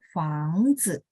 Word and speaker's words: 房子: 房子. Zi ini nada 5. Jadi bacanya juga pendek ringan. Teman-teman berasa nggak dia dapat pengaruh dari si depan. 房子 gitu ya. 房子 gitu. Tapi pendek dan ringan. 好，再来是 berikutnya ya, tadi jia